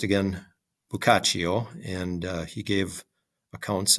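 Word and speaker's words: Boccaccio: days um it is his name is PR pronounced again bukach and uh he gave accounts of what people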